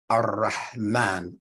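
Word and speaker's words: الرحمن: So we wouldn't just say R like we do in English. We'd say R, Ar-Rahman, Ar-Rahim, that trill, because the tongue is touching the top palate, but it's reverberating.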